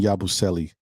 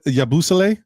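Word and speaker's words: Yabusele: The last game was the best game I've seen Yabuselli thus far. Why y'all say that man name wrong? Is that like a Yeah. Yabusle. Yabusle. Yeah, that's French.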